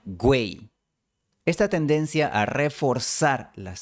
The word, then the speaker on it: güey: La forma güey empieza con la semivocal w.